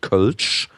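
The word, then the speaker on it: Kölsch: a certain Regional beer it's called kulch kulch which which is spelled k the o with the two dots on top and then LS C and that's only brewed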